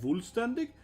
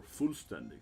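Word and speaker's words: Vollständig: Yeah, it's spelled like Fullständig, but it's pronounced Fullständig or Fullständig if you're German.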